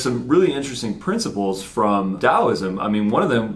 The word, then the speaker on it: Taoism: textbook definition of taoism spelled taoism or taoism but definitely pronounced taoism a Chinese philosophy based